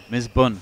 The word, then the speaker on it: Misbun: dos stick smash ramdan is it MB bur or is it Raman what we sticking with well it's not MB bur either bun Miss bun Miss bun I told